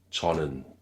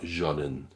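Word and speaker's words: 저는: Deuxième exemple, chonen. Et encore une fois, pas jonen. Chonen.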